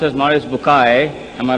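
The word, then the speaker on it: Maurice Bucaille: Morris Bukail pronounced as Morris Bukay am I right doctor doesn't matter okay uh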